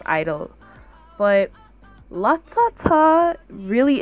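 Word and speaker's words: (G)I-DLE: Number one is G Idol, but I think their name is just pronounced Idol from like the few clips that I've seen of them saying it, so I think it's just Idol.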